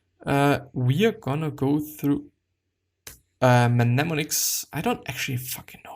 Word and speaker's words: mnemonic: Is it actually mnemonic or mnemonic? There is actually no M. Mnemonic.